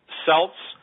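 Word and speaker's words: Celts: monster graveyard on Earth selts create or Kelts some people pronounce it Kelts create hide I'm sorry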